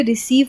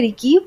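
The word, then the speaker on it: receive: अगर सी के बाद ई, आई और वाई आता है तो इसका उच्चारण हम सी ही यानी स की तरह ही करेंगे। जैसे रिसीव, सी के बाद ई आया तो हमने रिसीव पढ़ा, हमने रिकीव नहीं पढ़ा।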